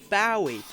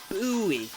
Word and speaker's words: Bowie: the Bowie knife pronunciation some people go Bowie or buoy but in the end